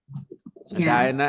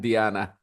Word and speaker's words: Diana: I was very surprised the same spelling very different pronunciation Diana and Diana yeah we call Diana too no Diana yeah but in in England if you have that spelling people will say Diana there was Princess Diana